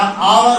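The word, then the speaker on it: hour: क्योंकि बेटा ये 3 एच ऐसे हैं जो साइलेंट रहते हैं। क्या रहते हैं ये? साइलेंट। ये क्या कहलाएगा बेटा? आवर बन जाएगा।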